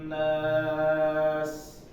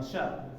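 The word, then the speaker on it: النَّاس: Nah, sa-nya dikasih desis. Nas. Ulang sekali lagi. Alladzi yuwaswisu fi sudurin nas. Nah, jangan sya. Nas, tapi nas tajam.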